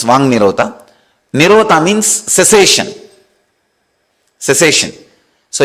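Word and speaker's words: वाङ्निरोध: Vak Nirodha only, when you pronounce it becomes Vang Nirodha.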